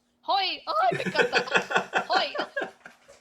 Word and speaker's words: Hoi: How do you say hello in Dutch? Hoi. Hoi.